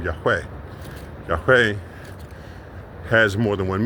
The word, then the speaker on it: Yahweh: So in our attempt to say his name right, we say it wrong. So we call him Yahuwah, we call him Yahweh, because you're putting a vowel in between two syllables. It's only two syllables, it's not three.